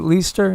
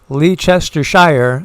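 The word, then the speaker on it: Leicester: Leester. It looks like Lee Chester Shire, but Leester, I guess.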